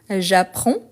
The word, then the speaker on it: j'apprends: Donc la faute la plus courante par rapport à ces verbes, c'est que on ne prononce pas le DS. Pourtant il faut l'écrire. Donc j'apprends.